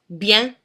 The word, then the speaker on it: bien: It's in the words like 20, 5, 15, bien, which bien is probably a word you're going to use quite often.